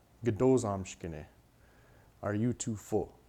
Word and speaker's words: gdo zamshkene: And with this word, even though that O sound at the beginning around here is kind of dropped when in the third person form, it comes back.